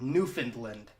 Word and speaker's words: Newfoundland: of those except for in Canada you have Newfoundland which is locals call it Newfoundland which okay that makes a whole lot of